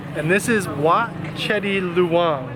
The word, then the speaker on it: Wat Chedi Luang: So we just made it to temple number 2, and this is Wat Chedi Luang, right? Yes. Did I pronounce that correctly?